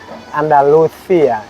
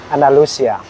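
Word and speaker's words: Andalucía: In Spanish from Spain, we sound like Andaluthia and for Mexico we say andalucia.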